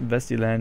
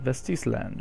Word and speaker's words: Vestisland: think vesty land um it's not vesy land it's VES land vestis land or Otis land should